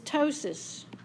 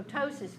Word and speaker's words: ptosis: So the word root is ptosis, which is another good word for you to learn. In ptosis, the P is silent.